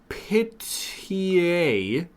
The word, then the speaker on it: Pihtije: Pitié. I'll spell that for you. Pihtije. Oh. Pitié, a Serbian dish made from cheaper parts of pork, such as the head, shank, or hock.